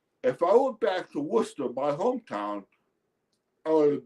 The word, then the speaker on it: Worcester: It's pron it's pronounced Worcester. It's spelled Wes Ser. It's one of those weird English pronunciations.